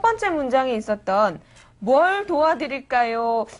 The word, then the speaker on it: 뭘: 그런데 쉐인 같은 경우에는 첫 번째 문장에 있었던 뭘 도와드릴까요? 이 부분이 좀 안 됐던 것 같아요. 다시 한번 해볼까요? 어서 오세요. 뭘 도와드릴까요? 어서 오세요. 뭘 도와드릴까요? 예, 뭘에서 리을 발음이 있는데 그게 원으로 들리거든요.